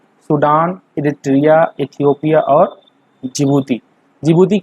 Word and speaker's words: जिबूती: जिबूती का सही नाम है डिजबूती। ठीक है, तो डी इसमें साइलेंट होता है।